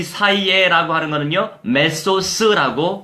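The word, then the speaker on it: μέσος: 자, 이 사이에라고 하는 거는요, 메소스라고 발음합니다.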